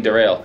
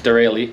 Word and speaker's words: Derale: to say it literally my entire life been saying derail it's not it's dereli now you guys know